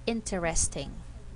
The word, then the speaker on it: interesting: do we have here we have four one 2 3 4 but in speaking we only have three syllables in this word interesting it's going to be like this we don't say the word interesting the spelling interesting but in speaking interesting this word interesting sometimes people will say it with for syllables interesting this one I